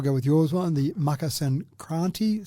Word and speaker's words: Makar Sankranti: So, and again, the pronunciation, I'll go with yours one, the Makar Sankranti sounds pretty good.